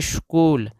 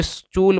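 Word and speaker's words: school: और एल से ल इसको पढ़ते है स्कूल कुछ लोग उसको स्टूल पढ़ते हैं स्टूल नहीं पढ़ना दोस्तों यहां पे एच साइलेंट होता है और साइलेंट लेटर के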